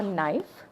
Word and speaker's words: knife: food are a silent K will be your knife which will be on the right hand side